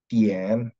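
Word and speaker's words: 点: Us D dibaca huruf T dalam bahasa Mandarin. Jadi D I A N jangan dibaca dibacanya apa? Tien.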